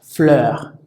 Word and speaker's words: fleur: Luego tenemos EU, que no se pronuncia como en español, se pronuncia similar al de la letra E, como un poquito más alargado o más prolongado, como por ejemplo en la palabra fleur, fleur, que significa flor.